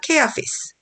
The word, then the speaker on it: Caiaphas: 근데 성경에서 이름하고 장소 이름이나 뭐 이런 이름들이 발음을 영어식대로 해야 되죠. 케아피스. 가야바를 케아피스라고 그냥 가야바라고 하지 마시고 Then the chief priests